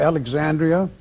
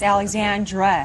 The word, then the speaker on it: Alexandra: He's saying his the oldest daughter's name wrong, and it's spelled wrong also. A L E X A N D R I A. No I. There's no I. It's Alexandra. Alexandra.